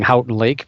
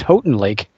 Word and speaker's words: Houghton Lake: I was saying it wrong I was saying Houghton Lake but apparently it's Houghton Lake it's one of those regional things people yeah